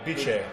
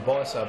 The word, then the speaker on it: Biche: Cem Biche. Yeah, Biche. I used to call him Sem Bisa, but Cem Biche. Yeah. English it says like an S, but in Turkish it's a J, like a J.